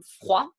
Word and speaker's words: froid: Le D, généralement, est une lettre muette, so the D will be a muted letter, comme froid, froid, chaud, chaud, ou d'accord.